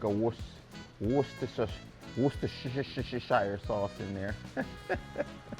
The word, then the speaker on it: Worcestershire: This is, some people say Worcestershire sauce. It's Worcestershire. So my Jamaican people would pronounce it Worcestershire sauce because we pronounce all our vowels, all right? But it's apparently it's Worcestershire sauce, okay?